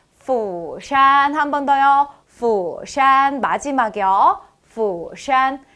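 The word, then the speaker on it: 釜山: 없이 말씀하시는 분들이 많거든요 푸산 아니고요 B 부산도 아니고요 영어 F 럼 후샤 하셔야 되겠습니다 뭐라고요 후샤 그리고 서울은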